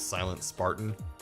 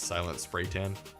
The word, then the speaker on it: Silent Spartan: My name was Silent Spartan, and it was spelled with 1s and 2s and all that, and people used to read it as Silent Spraytan.